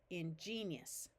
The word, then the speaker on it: ingenious: the E ingenus ingenious note that in this word it tends to be pronounced more like three syllables because this I sometimes instead of a clear e sound will have a sound more like a y of yesus in genius here we